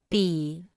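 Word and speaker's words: 比: repita en voz alta pi pi pi pi pi pi pi se pronuncia con el tercer tono pi se usa para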